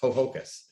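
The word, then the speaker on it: Ho-Ho-Kus: I'm not going to try to remember or pronounce Hohoken or Hohokus. Hohokus.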